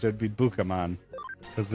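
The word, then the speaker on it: Bukamon: Hey, Bakaman leveled up. That's also not how that would be pronounced. It would be Bookamon cuz it's B U K A and I keep saying Baku.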